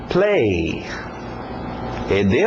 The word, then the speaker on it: played: Play. ED no final, no passado, mas só o som de um D. Played.